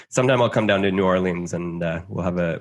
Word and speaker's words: New Orleans: how do you how do you say it new orleans yeah you got it no idea some people some people will say new orleans uh okay anybody who says nolan's is is lying to you about his pronunciation